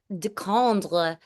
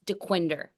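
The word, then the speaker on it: Dequindre: Um, but when I first moved here, I'd be like, I live along the Decondre cut, and I remember my friend Matt Naimi was like, Megs, it's DeQuinder.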